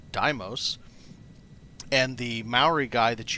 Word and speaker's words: Deimos: There have been several comments correcting my pronunciation. You need to head yourself out to the Deimos Star Yard yourself, dock, and listen to what the dock person says. She calls it Deimos.